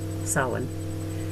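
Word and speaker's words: Samhain: closest religious scholars agree that the word s-a-m-h-a-i-n pronounced salon sawin comes from the gay gaelic but they're divided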